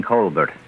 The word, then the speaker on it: Colbert: No, not Jean Colbear, Miss Crane. Jean Colbert.